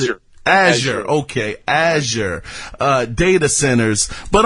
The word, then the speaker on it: Azure: How do you pronounce it? Azure.